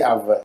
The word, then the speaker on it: Ave: Yeah, A-V-E, they'll say Ave.